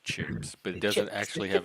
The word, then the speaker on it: CHiPs: oh it's like slay for California Patrol it's pronounced chips but it doesn't actually have an IRS want